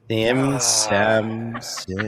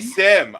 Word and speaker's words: SIEM: You say SIEM. Sim. It's spelled that way. I say Sim.